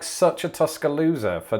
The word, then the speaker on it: Tuscaloosa: tuscaloosa is that right tuscaloosa oh i pronounced the s as a zed instead of an s which is an obvious mistake now that i've said